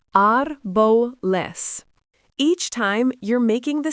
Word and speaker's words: árboles: Árbol, pronounced árbol, means tree, consonant ending, plural, árboles, pronounced árboles.